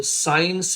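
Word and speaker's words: science: आगे देखेंगे ये है साइंस, और साइंस में जो है सी साइलेंट है और ये हो गया साइंस, तो इसका मतलब होता है विज्ञान।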